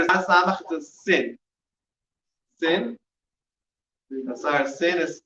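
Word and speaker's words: בשר: Basar. Basar. Basar is spelled basar. That's first one is what letter? Bet. Bet. Base, right? Bet is how much? 2. Next letter is samach, is sin. Sin. Basar sin is how much?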